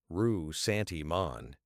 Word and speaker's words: ressentiment: Ressentiment, pronounced rue-sentiment, is not simply resentment.